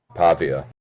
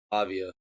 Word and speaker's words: Pavia: Fernando Mendoza and Diego, how do you pronounce his name? Pavia. Pavia.